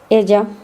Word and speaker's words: ella: The letter ya, the double L sound in Spanish is pronounced the same as Y in Spanish. Ella, talla.